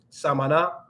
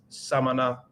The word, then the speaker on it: Samaná: the chat here is Samana but it seems like weak in Spanish but it's not so I always have to make sure I pronounce that correctly Samana Samana not Samana Samana so that's a city